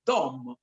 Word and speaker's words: Dom: La D è una consonante retroflessa, vale a dire si pronuncia con la lingua rotolata all'indietro, Dom, quindi dà un suono molto particolare.